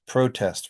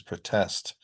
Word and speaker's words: protest: So I'm going to give you some pairs of words, and on the left, you'll see nouns that have primary stress on the first syllable, and verbs have it on the second syllable.